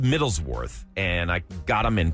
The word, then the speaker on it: Middleswarth: this the bag looks is spelled with an a not worth like w r t Middle's War so I understand what